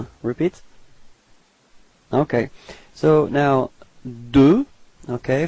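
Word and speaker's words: deux: repeat okay so now D okay final X is not pronounced okay D repeat okay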